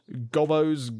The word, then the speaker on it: Gobbos: That's how you pronounce it. Gobbos.